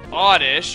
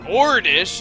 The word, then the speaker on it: Oddish: I'm saying it ilum Oddish or orish as many people like to call it nowadays Oddish is an old